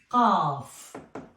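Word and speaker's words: ق: So it is qaf. We don't have it in English. We pronounce it in English instead of ka, sometimes Q. but it is qa, like qalam, pen. Qa, qa.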